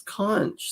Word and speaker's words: conch: It's conch. C-O-N-C-H. No, everyone's saying conch. It's spelled conch, but it's spelled.